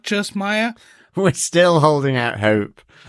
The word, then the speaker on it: Maya: I think, so basically where this comes from is, obviously her name is pronounced Maya in the show.